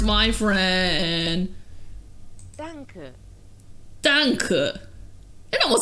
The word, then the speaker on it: Danke: Danke. Danke. It almost sounds Mandarin. Danke. Danke. Danke. Danke. See, I knew it wouldn't be donkey.